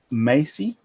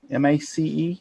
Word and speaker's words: Mace: Carrie Macy. M-A-C-E. Macy. Mace. Is that how you pronounce that?